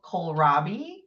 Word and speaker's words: kohlrabi: that you planted, I don't know how to pronounce it, is like a cabbage. It's something like a cabbage. Helene, it's called kohlrabi.